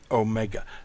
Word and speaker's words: omega: omega. This is the O sound as in note, a long O sound.